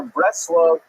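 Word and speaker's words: Bratslav: the town known as Bratzlav, not to be confused with Bratislava and it's usually pronounced in Yiddish as breast. the ner breast love uh is just a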